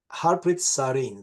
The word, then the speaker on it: Harpreet Sareen: Harpreet Sareen, do I pronounce correctly?